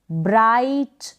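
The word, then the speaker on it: bright: Next ये है फ्लाइट, लाइट, ब्राइट, thought. इस तरीके से आप GH का उच्चारण सीखें और इनको पढ़ें।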